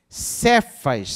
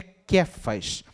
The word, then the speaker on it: Kephas: de jonas será e chamados de sefaz sefa na verdade pronúncia correta seria kephas josé é será chamado